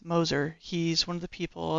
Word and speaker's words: Moser: note uh JJ Moser number 90 it's not moer it's Moser he's one of the people that signed my